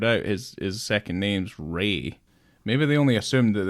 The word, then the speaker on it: Rea: it's yeah it it was a in Steven Ria like Stephen re's fa re Ray Fai St Ray I've spent I've spent [